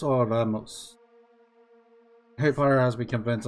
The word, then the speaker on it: Remus: Is it pronounced Remus or Ramos? Harry Potter has me convinced of the latter. I will let him answer that. You just say Remus. That's the Latin pronunciation.